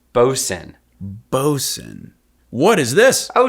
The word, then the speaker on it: boatswain: of equipment in the crew and it is pronounced bosun bosun what is this oh she is a